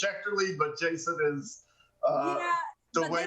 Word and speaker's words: Schechterle: before this and i'm i'm going to probably murder it shechtenly yeah well i said it to courtney phonetically so she's got it i know she does yeah it's it's schecterly but jason is the